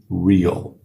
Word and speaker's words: real: Pronúncia de real, em inglês, real. Tem A na palavra, mas o A sai como real.